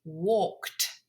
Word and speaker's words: walked: In the past, it's walked. You hear the sound? Walked. So it's a t sound at the end.